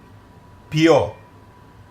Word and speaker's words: ποιεῖ: ποιεῖ. I want you to notice the combination of the second and the third letter. Omicron iota is pronounced as one vowel.